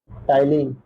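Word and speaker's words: ptyalin: और इसका दूसरा नाम है साइलेंट होता है टलीन।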